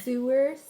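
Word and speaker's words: Sower: say it out loud SE how do you spell it sewers It's s o w e r s o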